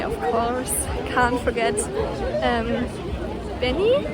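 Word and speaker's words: BENEE: course can't forget um benny i think he pronounced it benny i'm not a hundred percent sure b e n e e um i loved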